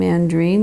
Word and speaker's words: Andriene: I got all upset about that because people mispronounce my name andreen there's no way they can say it if